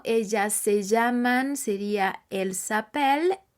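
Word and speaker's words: s'appellent: se llaman sería el sapel e l e s espa s apostrof a p e w l e n t recordemos la terminación e n t la escribiremos pero no la diremos ahora por qué yo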